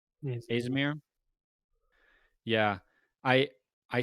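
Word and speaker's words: Azimir: Azamir. Yes. Azamir.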